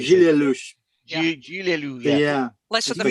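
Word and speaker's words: Gilles Lellouche: Gilles Lelouch. That's how you say Gilles it. Lelouch. Gilles Lelouch.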